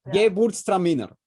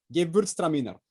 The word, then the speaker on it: Gewürztraminer: Dime, ¿cómo se pronuncia? Gewürztraminer. Gewürztraminer.